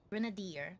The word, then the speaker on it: Grenadier: Grenadier.